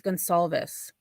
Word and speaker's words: Gonsalves: It's not Gonzalez, it's Gonsalves. Like, it's an S, like not a Z.